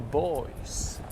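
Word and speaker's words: Boii: A small tribe of the Celts actually called the Boys, right? The Boys not spelled with a Y, with a double I instead. So more correctly they would be called the people of Boja.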